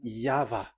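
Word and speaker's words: Yahweh: The original one is V and there is no more explanation but that is the phonms the pronunciation pronunciation is equal V. It is V. Y H V H. So it is Yava.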